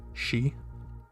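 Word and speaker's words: し: and then we have our first exception which is she spelled in romanji s-h-i she and it looks like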